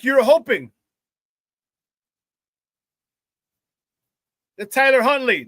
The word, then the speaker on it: Tyler Huntley: Why do I keep getting that dude's name wrong? Tyrod Huntley. To Tyler Huntley.